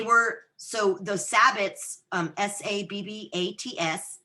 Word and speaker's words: sabbats: so those sabbats um s-a-b-b-a-t-s not like like Sabbath or foreign but sabbats it's our high holidays